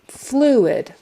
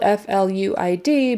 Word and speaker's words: fluid: Fluid is spelled F-L-U-I-D, but you say it as if it were F-L-E-W-I-D. Fluid, like the bird flew, and then id, fluid, fluid. With the accent on the first syllable, fluid.